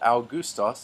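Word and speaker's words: Αὔγουστος: al gustas our Gustaf's so we have two diphthongs in this the alpha oops on at the beginning proach next to the owl and the alma corpse on which makes the ooh so al gustas is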